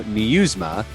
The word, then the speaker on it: Nieusma: Joe Nieusma.